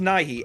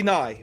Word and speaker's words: Nighy: No, I believe his last name is pronounced Nighy, Nighy. Okay, got it. Yeah, it could also be Nye, but we're back on the same page now.